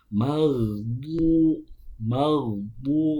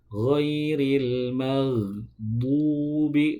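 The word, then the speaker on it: المغضوب: Nah, sering kita dengar, sering kita temukan membaca huruf bo itu dengan huruf dal. Ghairil maghdu, bukan du. Nah, kalau du itu huruf dal, bukan huruf bo. Tadi sudah dijelaskan huruf dal itu keluarnya dari ujung lidah bertemu dengan pangkal gigi seri atas. Maghdu, itu bukan huruf bo tapi huruf dal.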